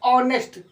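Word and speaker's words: honest: एन ई एस टी लिखते होनेस्ट लेकिन पढ़ते हैं ऑनेस्ट। इसके पहले आर्टिकल एन आता है।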